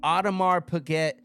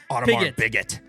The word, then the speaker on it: Audemars Piguet: It's the new Audemars Piguet Swatch collab.